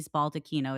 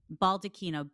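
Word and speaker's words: baldacchino: It's the Bernini Baldakino. It's that bronze. How do I spell it? Baldino.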